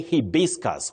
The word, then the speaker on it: hibiscus: You say hibiscus with a stress on the second syllable.